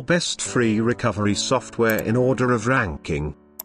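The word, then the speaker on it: Recuva: As its tagline says, recover your deleted files quickly and easily. I will now tell you about its feature with the installation and demo. Do watch carefully. Recuver, pronounced Recover, is a freeware Windows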